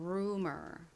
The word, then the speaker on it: rumor: 이 단어에서는 u가 아닌 우 소리로 쓰여서 이 umor 부분이 umor로 발음이 됩니다. r의 리을 소리와 연결하면 어떻게 되나요? rumor이 되죠. rumor.